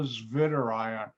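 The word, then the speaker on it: zwitterion: comes from german uh i pronounce a w like a v which is how you do it in german and zven orion comes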